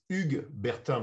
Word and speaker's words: Hugues Bertin: So Hugues Bertin, did I get somewhat close to the pronunciation? In French, it's Hugues Bertin, but it's not pronounceable. It's impossible to say Hugues Bertin in English or in Spanish.